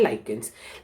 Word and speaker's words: lichens: अभी लाइकेंस की स्पेलिंग क्या है मैं आपको बताता हूँ, LICHENS, LICHENS, तो उसको बोला जाता है लाइकेंस।